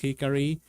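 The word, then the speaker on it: 光: The kanji for light, which is pronounced hikari, and the kanji for law and order.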